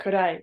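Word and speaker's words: 暗い: Do you remember how this is pronounced? Could I? Perfect, kurai, which is dark.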